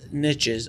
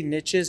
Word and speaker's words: niche: Now, you talk also a lot about niches. I say niches, and I found out recently, according to the Webster's Dictionary, it is pronounced niche or niche, depending. So both are correct.